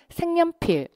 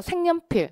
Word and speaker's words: 색연필: 이걸 어떻게 발음을 하냐면 색연필 어 색연필 어 굉장히 발음하기 편합니다 이렇게 발음을 해 주는데 여기에 이렇게 니은이 첨가가 됩니다 이런 걸 우리가 배우죠